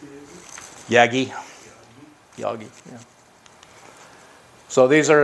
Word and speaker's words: Yagi: How do you pronounce it? Yagi.